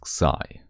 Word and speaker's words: xi: This is the Greek letter C which you can also pronounce as sai.